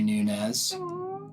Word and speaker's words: Nunes: that thank you well thank you Ashley Mary Nunez you say my last name right really